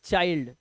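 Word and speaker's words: child: आप यह wind वाइल्ड यह चाइल्ड चिल्ड नहीं पढ़ते इसको इसे इसलिए चिल्ड नहीं पढ़ते इसे पढ़ते चाइल्ड ठीक है इस तरह से इसे पढ़ते हैं चाइल्ड आगे देखो अब देखो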